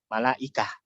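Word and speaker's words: ملائكة: Karena kalau dalam malaikatun kalau mau dibaca akhirnya nggak dibaca gimana? Malaikah. Kan jadi hak ya kan ya.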